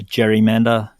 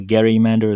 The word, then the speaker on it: gerrymander: Bjorky Peterson in Queensland, although he was helped by a gerrymander, or a gerrymander as it's properly pronounced.